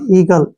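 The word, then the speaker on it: eagle: ई ठीक है ना अब फिर जी से पहले वावल आ गया तो ई का उच्चारण ई होगा और जी का उच्चारण हो गया ग और एल का उच्चारण हो गया ल ई का उच्चारण हम करते ही नहीं है ईगल ईगल क्या होता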